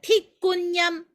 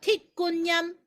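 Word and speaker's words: 鐵觀音: 그래서 반은 숙성을 했고 반은 숙성하지 않은 그런 차를 철관음이라고 하는데 광동어로는 틱꾼얌이라고 부릅니다. 틱꾼얌. 자, 잘 모르시니까 이건 적으셔야 돼요. 틱꾼얌, 철관음, 틱꾼얌 이렇게 합니다.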